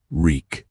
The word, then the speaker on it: Reek: Reek, reek. It rhymes with meek, bad, and there's blood on your mouth, Ramsay observed.